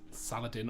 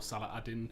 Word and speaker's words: Saladin: of Jerusalem surrendered to Saladin or Salahadin um there's many different pronunciations um and it was